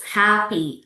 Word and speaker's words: happy: Happy, apples, watch, that's a syllables. And the word stress here, this is the example of the words that put the stress on the first syllables.